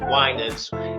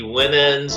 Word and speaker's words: Winans: pronounce my name correctly there was a whole lot of different mispronunciations of wines it'd be women's wininsky wine ends and all sorts of stuff but they learned